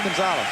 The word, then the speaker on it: Gonzales: that's how they say that's gonna ask you to pronounce that one that's gonzales where is that gonzalez